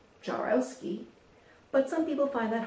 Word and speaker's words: Jaworowski: My name is pronounced Jarowski, but some people find